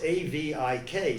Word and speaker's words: Avik: brought a fellow named Avik Roy. Now it's A-V-I-K, so you would say it's Avik, but he pronounces it Avik.